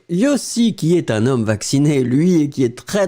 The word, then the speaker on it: vacciné: le participe passé, hein, vacciné, donc phonétiquement, oui, on prononce comme si c'était l'infinitif, mais n'oubliez pas vraiment le participe passé, accent aigu à la fin.